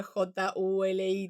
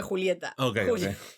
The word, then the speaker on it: Julie: Igual cada vez que escucho Juli, para mí, o sea, en mi mente se escribe J U L I, tipo el short de Julieta, pero en realidad no es Juli. Vamos a decirle Julie. Jul.